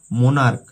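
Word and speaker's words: monarch: যেমন মোনার্ক, মোনার্ক মানে রাজা বা রানী। মোনার্কের সঙ্গে যে সিএইচ এর উচ্চারণ ক আসছে, সেই জন্য মোনার্ক বা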